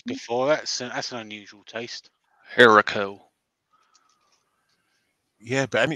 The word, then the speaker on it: haricot: Katie says, Harrico? Question mark. That's what I said. Yep, Harrico. Yeah. Fried in bacon grease. All right, okay. Yeah, I've had grits before. That's an unusual taste. Harrico.